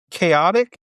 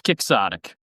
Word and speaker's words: quixotic: Now, are they trying to pronounce it chaotic? It's quixotic. Quixotic. It's a Scrabble word.